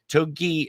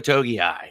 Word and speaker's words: Togiai: but we put on the practice squad noah toki oh jesus uh noah togiai i literally i know how to say it